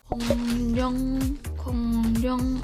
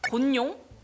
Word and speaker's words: 공룡: 정확하게 발음을 하려다 보니 곤룡 뭐 이렇게 되거든요.